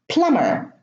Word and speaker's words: plumber: Plumber, the B is in the middle but it's preceded by an M. In plumbing, the B is in the middle and it is preceded by an M. So in these words, the B is not pronounced.